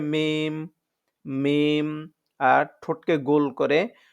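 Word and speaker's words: ميم: উচ্চারণ হবে হচ্ছে বা আর উভয় ঠোঁট মিলিয়ে ঠোঁটের শুকনো জায়গা থেকে উচ্চারণ হবে মিম মিম আর ঠোঁটকে গোল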